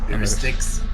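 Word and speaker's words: Styx: into the river uh sat or whatever that's pronounced. Sticks.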